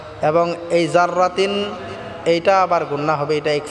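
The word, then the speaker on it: ذَرَّةٍ: এক আলিফ টানে পড়বো জাররাতিন জাররা জাররা বললে হবে না জাররা পাতলা হবে জাল উচ্চারণ করতে হবেন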